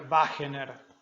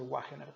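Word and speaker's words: Wegener: Se escribe con W. Ahí está, sería Wagener, o nosotros vamos a decirle Wagener, pero bueno, ahí está.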